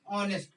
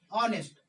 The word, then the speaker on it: honest: ऐसे बोलने में आपको एफर्ट नहीं लगाना पड़ रहा है, सिंपल बोलते हैं ऑनेस्ट, ऑनेस्ट, ऑनेस्ट का इस्तेमाल करते हैं।